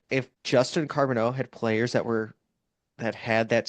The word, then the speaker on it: Carbonneau: so yeah, I didn't know how to say it at first, and someone said carbonara, and then I was like, well, I'm Italian, so that really that's good for me.